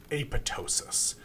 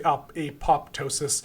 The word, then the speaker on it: apoptosis: pathway is something called apotosis um spelled apoptosis and some people say apoptosis um I think it's supposed to be apotosis I think the second p is silent uh but apotosis is